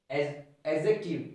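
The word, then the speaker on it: adjective: अभी देखो यहाँ noun, pronoun, verb, adverb, एडजेक्टिव, एडजेक्टिव जे से पहले डी हमेशा साइलेंट, जे से पहले डी हमेशा साइलेंट।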